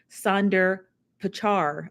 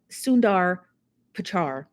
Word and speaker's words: Sundar Pichai: to Apple CEO Tim Cook and Alphabet CEO Sundar Pichai. I believe that's how they pronounce the name. Sundar Pichai.